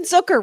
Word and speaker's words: Zucker: Okay, let's talk about Jason Zucker, rhymes with hooker, which I have to